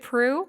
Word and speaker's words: Proulx: Yes, I can spell it because it's not easy to, if I pronounce it, it's not the same because it's French. And I was calling you Proulx. I knew it was Proulx because Olivia.